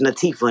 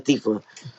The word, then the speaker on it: Natifa: saying her name wrong it's natifa not in the thiefa so i apologize baron corrected me i stand corrected thanks for not for telling me miss natifa that i was saying your name right it's funny he straight up was like you are saying her name wrong it's natifa like queen latifah but natifa right instead